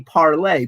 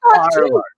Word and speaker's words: Parler: Which is supposed to be parlay, but the right-wing morons don't understand that it's a French word, so they pronounce it parlor.